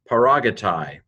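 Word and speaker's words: παράγεται: I did a lot of those because you should know them by now, but this is P alpha rho, alpha gamma epsilon, tau iota, tau alpha iota, paragatai.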